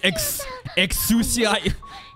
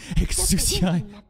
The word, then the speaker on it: Exusiai: It's like Exusiai. What's her name? Exusiai.